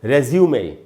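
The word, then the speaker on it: résumé: अच्छा लोग इसको कई बार हम लोग रिज्यूम बोल लेते हैं, मुझे अपना रिज्यूम भेजना है। रिज्यूम बिल्कुल नहीं बोलना है दोस्तों, एकदम गलत उच्चारण है। इसका उच्चारण होगा रेज्यूमे, ये फ्रेंच लैंग्वेज का वर्ड है रेज्यूमे।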